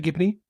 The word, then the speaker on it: Gibney: Is that how you say it, Gibney? Did you say that? Yeah? Gibney, yeah.